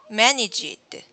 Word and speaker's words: managed: Managed. Managed. Okay. Managed. No? There's no id sound at the end. Manage. Managed. It's just the D sound, past tense of manage. So it should be managed.